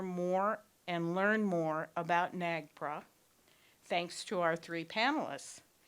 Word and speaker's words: NAGPRA: all of us our topic tonight is the NA GPRA I don't know if that's pronounced a different way NAGPRA okay thank you